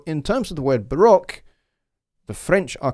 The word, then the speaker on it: Baroque: It's interesting, you American folks, you call it the Baroque period, when the term is a French term, Baroque. It's, you know, we kind of call it Baroque here. It's an interesting different pronunciation across the pond from here. Sometimes you guys are absolutely